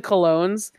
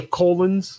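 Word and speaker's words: Colóns: When you look at even the Colognes, like, are not terrible? Question mark. Wait. It's pronounced the Colons.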